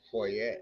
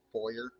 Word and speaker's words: foyer: Then why is it spelled that but pronounced foyer? Because it was originally a French word. And the ER in French is So typically. if I go to France and say foyer, they're gonna look at me like you're a tourist.